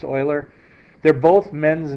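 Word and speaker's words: Euler: the and you notice sometimes they're called Oiler diagrams I wrote that on top e l r it's pronounced Oiler they're both men's names you're going to hear more about Oiler and then um a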